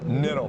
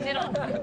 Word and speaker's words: Kittle: Niddle. Niddle, excuse me. The K K is silent. The K is silent. Niddle.